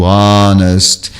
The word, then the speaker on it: honest: O H, ele pode ser mudo em poucas palavras. São 5 palavras na língua inglesa. Isso depois eu dou para vocês, como o hour, o honor, o honest, o air e o heiress.